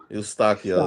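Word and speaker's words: Eustáquio: I think Chris is trying to tell us it's pronounced like this. Eustachio.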